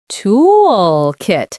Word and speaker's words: toolkit: toolkit. Stress the first syllable.